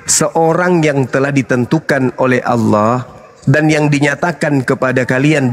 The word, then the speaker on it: Allah: Itu A-L-L-A-H. Itu ada. Ya. Itu bacanya apa? Allah. Karena ini berasal dari Quran, maka kami membacanya Allah.